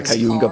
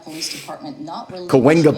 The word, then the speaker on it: Cahuenga: The one I mispronounced, not the Cayuga Pass. Cahuenga Pass. I always got to say the wrong one first.